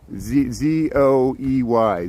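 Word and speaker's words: Zoey: I know I mispronounce everything. And Z-O-E-Y, Zoe, Zoe.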